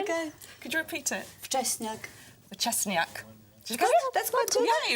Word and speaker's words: Wczesniak: It's Wczesniak. It's Polish surname, so a lot of people have problems pronouncing it.